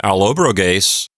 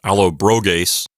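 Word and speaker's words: Allobroges: it's alob brase and I'm pretty sure the accent is on the anti penal so it's alobo gase not Alo broas because the O there is not long it's apparently a short eye and persad deun means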